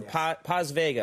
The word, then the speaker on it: Paz Vega: Now, in this movie, you have the woman who plays, the actress who plays your housekeeper, Paz Vega.